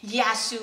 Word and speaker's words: Yasou: So I decided to just do Y-A-S-O-U, and I specifically wanted to bold the YA, so it's almost like helping you to pronounce it.